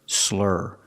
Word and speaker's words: slur: Pronunciation, make that sound like burger. Slur, slurring.